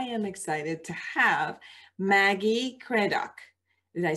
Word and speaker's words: Craddock: I'm Dr.Foojan Zeine, and I am excited to have Maggie Craddock. Did I say it right? Craddock.